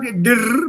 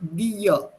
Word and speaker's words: dir: Similarly, it's not dir, but dir. Dear. Yeah. What happens is, phonetically speaking, this r becomes part of the vowel before it. Part of this vowel before it. So it's pronounced as a.